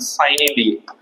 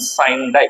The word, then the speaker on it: sine die: But there is something which is also called as adjournment sine die or adjournment sine die. So you can pronounce it in any way, adjournment sine die or adjournment sine die.